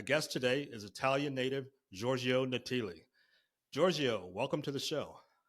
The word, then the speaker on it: Giorgio Natili: As you heard in the intro, our guest today is Italian native Giorgio Natili.